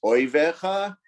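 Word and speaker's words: אויביך: Someone there is thinking that he made a mistake in the pronunciation of the word Ivecha. In fact, I didn't. In Jewish Hebrew, in the Jewish Bible, it reads as Oivecha.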